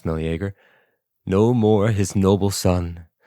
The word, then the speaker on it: Meleager: No more his royal self did live, no more his noble son, the golden Meleagor now. It's a weird way to pronounce Meleager.